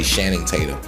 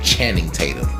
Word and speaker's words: Channing Tatum: say it right because I used to say Channing Tatum but it's Channing Tatum like channeling energy type but